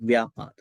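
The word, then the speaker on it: vyāpāda: Yeah, actually this word is spelled in both ways, vyapada and vyapada. Yeah, so vyapada is okay. You can say, you can what you call remove B and you can say V, vyapada.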